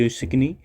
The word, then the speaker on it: Asikni: यूसिकनी इट is written as ASIKNI। The pronunciation is यूसिकनी।